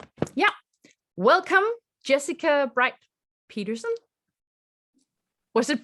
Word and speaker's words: Jessica Brite Peterson: Welcome, JessicaBrite Peterson. Was it pronounced correctly?